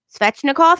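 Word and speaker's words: Svechnikov: butcher this guy's name fetching a cough no yep that's exactly how you pronounce it okay spectra cough score did this crazy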